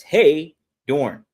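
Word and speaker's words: Heydorn: That's Hey Dorne.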